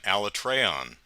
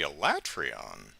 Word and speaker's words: Alatreon: or something weird, because when Elatrion came out, they all called him Alatreon. And every player went, wait, what? Alatreon? Should be Elatrion.